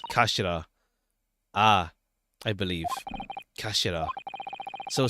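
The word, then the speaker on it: 頭: Written as head in Japanese, but pronounced as kashira.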